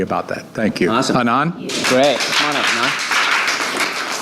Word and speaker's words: Anand: I'm going to introduce to you Anand Patel. There's a flyer on your tabletop. I know that the name ends in a D, but the D is silent, okay? It's pronounced Anand.